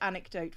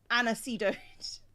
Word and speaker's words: anecdote: and my partner with the word anecdote which he pronounced anacidate god oh but yeah